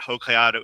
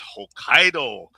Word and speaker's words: Hokkaido: Hokato. It's not Hokkaidato, it's Hokkaido.